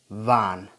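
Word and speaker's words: wann: you say vo his mind son when is van van so this one sounds almost close to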